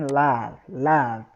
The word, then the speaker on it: love: Love, com um som de A, né? Muitos pronunciam com som de O, tudo bem, não tem problema, porque é assim que está escrito. Mas, na verdade, pronuncia-se com som de A. Não é love, é love, né?